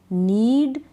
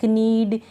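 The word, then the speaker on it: knead: नीड, नी, नाइफ, knit, knock, no. तो इन सारे spelling में हम कहाँ पढ़ रहे हैं? कनीड या कनी या केनाइफ, या इस तरह से नहीं पढ़ रहे हैं।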